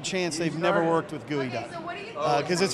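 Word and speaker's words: geoduck: they've never worked with gooey duck because it's hard to get. It's hard to get, and it's not gooey. It's not actually gooey. It's just a clam, and it's not even spelled like gooey.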